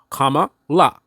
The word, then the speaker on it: Kamala: name that is true comma La comma like a comma in a sentence la like La whatever right it's actually